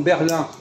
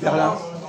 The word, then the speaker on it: Berlin: On détruit la langue française si on prononce Ahmed. C'est pas la règle de la langue française. Par exemple, Berlin. On dit Berlin ou on dit Berlin en français? Berlin. Quoi? Berlin. Pourquoi on dit Berlin et pas Berlin?